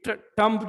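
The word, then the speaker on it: tomb: जब किसी वर्ड के लास्ट में एम बी आ जाए, जिस तरह कम या टॉम या जो भी एम बी, तो बी हमारे पास साइलेंट होता है.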